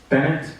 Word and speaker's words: Bennett: Bennett.